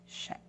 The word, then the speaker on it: chèque: And you'll notice that CH en français makes a sh sound. C-H-E, accent grave, Q-U-E, chèque.